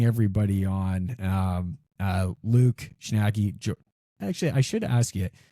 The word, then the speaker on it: Schnacke: Uh, so I say Schnacker. Um, but yeah, it really does like it does not matter. I I guess I truly don't know uh either, but I've always said Schnacker.